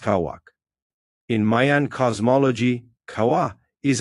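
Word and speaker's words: Cauac: It is called black kawa, pronounced kawak.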